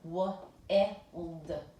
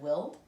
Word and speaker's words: wild: So if we're looking, closed syllables are supposed to have a short vowel. W-ild, w-ild. Have you ever heard of willed? That's not a word, it's a nonsense word. So we know that this is a long vowel sound because ILD is a closed syllable exception. So the I says its own name.